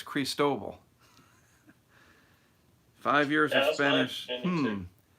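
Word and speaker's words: Cristóbal: someone says it's pronounced Chris tow ball I thought it was Chris dovell that's what hurricane center pronunciation says CR EES like crease and then toh toh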